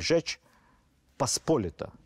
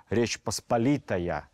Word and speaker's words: Rzeczpospolita: or 'a common affair', began to sound like Rzeczpospolita, that is, a common cause of the Polish